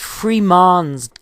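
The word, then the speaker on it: Frémont: Freeman's or Fremont's but Freeman's guest ranch exactly as Fremont's father had pronounced his name the French pronunciation of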